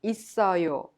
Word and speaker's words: 있어요: In 동생이 있어요, yo is pronounced 있어요. The final consonant double s in it of 있어요 is prolonged and connected to the next vowel to be pronounced 있어요.